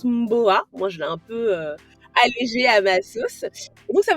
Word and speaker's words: Ohmboa: en réalité ça se prononce mon beau à moi je l'aï un peu ça veut dire chez